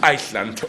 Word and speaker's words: Iceland: Look, when I love the country, I visited, how do you pronounce it here, Iceland or Island? The shitty place whose capital is Reykjavik. Iceland, okay.